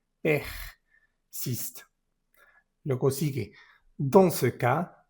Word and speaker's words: persiste: Persiste, esto es una ER. ¿Cómo se pronuncian las ER? Se pronuncian como en verde. Persiste.